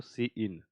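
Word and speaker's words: cin: ऐसे लिख सकते हो सी इन, और ये सी आउट। ठीक है, ऐसा आप ये हम लोग इस तरीके से इसको प्रोनाउंसिएट करते हैं, सी इन और सी आउट।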